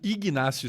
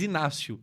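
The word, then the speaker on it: Ignácio: O Igncio se pronuncia esse G. Ig. Normalmente no Brasil eu ouço mais Inácio, né, mesmo tendo G.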